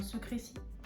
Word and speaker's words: Secrecy: On va prononcer ça à la française, hein, Secrecy.